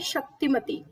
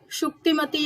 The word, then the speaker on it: शुक्तिमती: चेदीस की कैपिटल जो है वो है शक्तिमती। ठीक है, शुक्तिमती या फिर शक्तिमती आप इसको प्रोनाउंस कर सकते हैं।